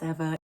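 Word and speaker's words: Ewa: from ever ghost rifting its spell Eva but it pronounced ever ever it's polish I'm sorry it's very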